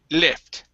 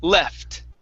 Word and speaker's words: left: left okay so here you had said le lift okay uh pushing your tongue in the way in the back of your mouth push it forward ooh left left left okay so he he